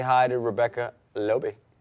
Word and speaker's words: Loebe: Last name? Loebe. Rhymes with? Not gonna say it. Floby.